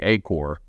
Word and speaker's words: AcoRx: RX was the original We Now say acore okay you know with a silent X yeah but but that's